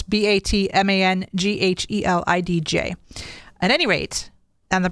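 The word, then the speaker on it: Batmanghelidj: I'm going to try to pronounce it as Batman Galidj. It's Batmanghedlidj.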